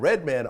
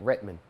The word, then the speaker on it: Redman: You see how you said my name? White people say my name like Redman, and black people say my name Redman.